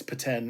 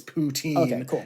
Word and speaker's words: poutine: It's paten in like uh if you speak French. Um, but it's poutine everywhere else.